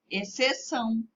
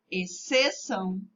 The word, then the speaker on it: exceção: Exceto, exceção e excelente. Perceberam? Essas palavras, o C é pronunciado mais forte do que o X, né? E o X, então, acaba ficando sem ser pronunciado.